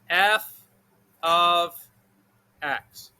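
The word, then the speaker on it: f(x): of mean the same thing okay this is pronounced f of x so we're going to do a question where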